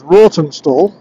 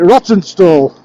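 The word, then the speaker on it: Rawtenstall: anybody looking at it it's spelled roten r a w t n s a l but I don't know anybody who pronounces it as roton stall if you're from around these parts that calls it rotten stall and as we come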